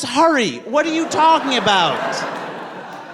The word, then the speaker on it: Hari: My name is Hari. It's like hurry with a ha.